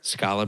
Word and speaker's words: Scali: turn yeah um turnup Scala bread um Scala Scala Scala bread it's spelled Scali always say Scala bread you know bread I